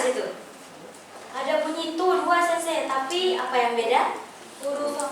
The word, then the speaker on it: sensei: Karena E ketemu I, jadi I-nya nggak dibaca sensei ya.